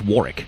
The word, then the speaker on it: Warwick: can't shake the feeling it's pronounced warrick warg is an ex-gangster